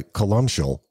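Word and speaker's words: Columcille: megalith and so I guess to start by colal while that is certainly how it's pronounced it's basically a a a portmanto of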